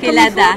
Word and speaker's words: Kelada: C'est comme ça se prononce? Exact, Kelada.